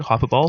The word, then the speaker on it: hyperbole: Hyperbole? Hyperbole? No, it's hyperbole. Hyperbole. Yeah, like a bowl. Like a cereal bowl. But it's hyper.